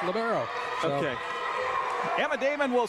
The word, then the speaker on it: libero: I call it libero because somebody told me little burrito years ago. Think of that. And I was told, for the next 10 years, nope, it's libero.